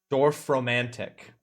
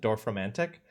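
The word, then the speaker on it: Dorfromantik: Dorf romantic. That's how you're supposed to pronounce it. Dorf romantic.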